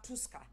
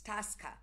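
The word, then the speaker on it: Tusker: about people who drink and say people love true sky and I say it's not true sky in my head it's Tosca you know I'm going to correct you know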